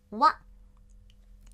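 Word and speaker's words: わ: 哇哦，这一行的第一个假名读成哇哇，平假名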